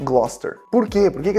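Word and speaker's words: Gloucester: Gloster termina com Sester. C E S T E R, né? Sester. Todas as cidades que terminam com Sester, eles pronunciam ster.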